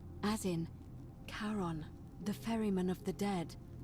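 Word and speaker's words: Charon: It's just as you described it, only your pronunciation is a little off. The name you heard wasn't Karen. It was C H A R N. As in Karon, the fairyman of the dead.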